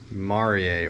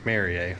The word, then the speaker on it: mariae: It has now been reclassified as Prosthechea, and the species in question is Prosthechea mariae, or mariae, depending on how you want to pronounce it.